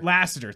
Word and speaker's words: Lasseter: of this engine uh john is it landscape lassiter lasseter thank you i'm gonna mispronounce it so lassner uh i i think